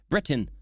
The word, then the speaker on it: Britain: He's saying Britain like that. He's really pronouncing the T as if it's two separate words, man. Britain. Britain. Please, Britain, you don't pronounce the T.